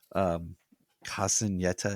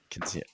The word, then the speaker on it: Quinceañera: But Sarah is having her Casineta. Is that am I pronouncing it? Quinceañera.